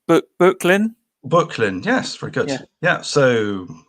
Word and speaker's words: Böcklin: Am I pronouncing this right? Böcklin? Böcklin, yes, very good.